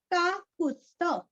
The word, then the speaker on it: काकुत्स्थ: बली का ली दीर्घ, काकुत्स्थ, काकू, काकू का कुरस्व, यहाँ पे आधा त, आधा स और पूरा थ और आगे विसर्ग का उच्चारण हल्का सा फ, काकुत्स्थ, काकुत्स्थ, हल्का सा